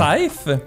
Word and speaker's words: Scythe: Scythe. Scythe. S-Y-T-H-E. S-C-Y-T-H-E. Un beau mot en bon français. Facile à prononcer pour tout le monde, hein?